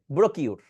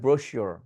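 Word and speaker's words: brochure: 3 নাম্বারটাকে যদি কাউকে দেই আমি এখন উচ্চারণ করতে, অনেকে কি করবে ব্রোকিওর, বাট এটা হবে ব্রোশিওর। কি বলবো? ব্রোশিওর, ব্রোশিওর, শোর, শোর, মোটা হবে শোর, শোর।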